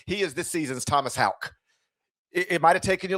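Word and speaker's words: Haugh: is this season's Thomas Houck. It might have taken you a little while to figure out it's Houck not Hall or whatever, but it's yeah.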